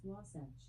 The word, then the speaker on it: Wasatch: Pronunciation of Wasatch can vary, but it is often pronounced Wasatch.